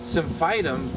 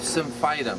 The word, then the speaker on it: Symphytum: Well, I said, well, I can't guarantee, but we can use Symphytum both as a topical poultice and, which, you know, she couldn't do really because, you know, she still had the cast on.